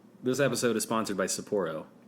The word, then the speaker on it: Sapporo: episode is sponsored by Sapporo Sapir Oh Sapporo I'm almost certain it's Sapporo Sapporo send us money and